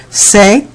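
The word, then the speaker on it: ces: In the plural forms, we really have no problem because the only word we're going to use is say.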